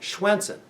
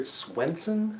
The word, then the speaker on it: Schwensen: casting director, a manager, they could not pronounce my last name, Schwensen. I heard Swinson, Swanson, whatever.